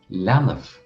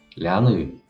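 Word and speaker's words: leanbh: So a common way to say baby in Irish is lanav. Lanav. Lanav. And in the Ulster dialect, that is pronounced lanu.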